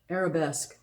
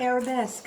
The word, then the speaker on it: Arabesque: I've showed it before, but Brooklyn Tweed, Peerie, and how do you pronounce that? Arabesque. There we go. That word. Arabesque.